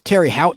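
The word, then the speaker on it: Terre Haute: I think it's Terry Hought, Indiana H A U T E.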